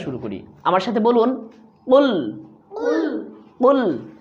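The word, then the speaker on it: قُلْ: আমার সাথে বলুন কুল কুল। এখানে খুল যদি বলেন তাহলে ভুল হবে, এখানে বলতে হবে কুল। কফ লাম পেশ কুল।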